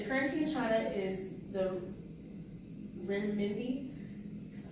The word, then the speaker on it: renminbi: The currency in China is the renminbi.